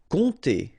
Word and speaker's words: compter: Compter. Alright, so OM, really like a nasal here. On, and then this P is not pronounced. Compter.